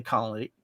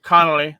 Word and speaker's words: Connolly: those of you that are fans of billy conley colony um billy thank you connolly thank you thank you sir it's pronounced columbine anyway sir billy connolly uh is